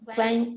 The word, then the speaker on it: climb: in the action crime the b is silent you don't pronounce the b so climate good okay